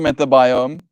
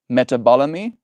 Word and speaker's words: metabolome: It's not metabiome. That's B O L O M E. Balom. Bolo. Bologamy. Metabolamy. That sounds like it's the right way to say it.